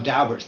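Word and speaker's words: Daubert: I know how Dalbert's pronounced because the lawyer who represented the Dowberts in the Supreme Court said it was Dalbert. I've heard people say Dalbear.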